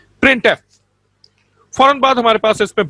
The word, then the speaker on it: printf: The function printf is pronounced as printf। इसको हम कैसे पढ़ेंगे? प्रिंट अलग हमारे पास वर्ड है और f अलग है। printf।